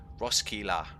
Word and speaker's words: Roskilde: Roskilde. It looks like Roskilde. It looks like Roskilde, so it sounds like a bit like a it sounds a bit Scottish. Roskilde, yeah, Roskilde. No, ignore that pronunciation.